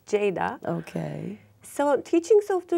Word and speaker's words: Ceyda: It's a bit hard for people to pronounce it because G is like J in Turkish. Okay. And so it's like Ceyda here, but it's Ceyda.